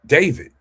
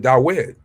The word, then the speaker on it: David: It's not David. Some people pronounce it Dawid.